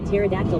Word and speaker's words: pterodactyl: Amberator_90 says, "Why can't you hear a pterodactyl P?" Because the P is silent.